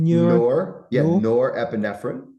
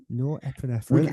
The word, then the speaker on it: Norepinephrine: Norepinephrine. Norepinephrine.